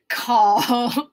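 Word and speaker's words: 口: Call. Oh. So oh. So first pronounce oh, like you know something. Oh, and then add a k sound. Call. Call. And then your lowest voice in your vocal range.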